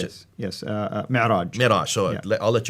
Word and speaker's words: Mi'raj: But that's where called the Mi'raj. How do you Mi'raj, pronounce yes. it? Yes, Mi'raj.